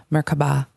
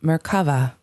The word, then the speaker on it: Merkaba: It is seen in other cultures as Merkaba, Merkaba, and Merkava. There are several pronunciations, but generally you pronounce it as if the three syllables are separate, with equal accents on each.